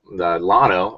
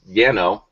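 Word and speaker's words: Llano: in January uh 29th down in loano or Yano loo depending on who you talk down there different ways eventually say it right yeah right so I'm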